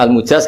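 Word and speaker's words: al-mujāz: karena sanad itu untuk almujaz bacanya almujaz karena dari fiili ajaz jadi mujaz itu yang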